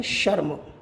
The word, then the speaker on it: शर्म: जैसे एक हम उदाहरण लेते हैं, शर्म। शर्म में रर्रा में के ऊपर लगा हुआ है। जब हम इसका उच्चारण करेंगे तो मैं से पहले करेंगे। जैसे शर्म, क्या होगा? शर्म। रे का उच्चारण पहले होगा, मैं का उच्चारण बाद में होगा।